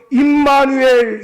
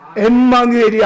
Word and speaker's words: 임마누엘: 그래서 임마누엘 예수, 엠마누엘이 아니에요. 발음을 잘해야 돼요.